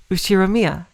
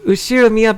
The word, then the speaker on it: Ushiromiya: Ushiromiya. That's a fairly plausible Japanese pronunciation so far.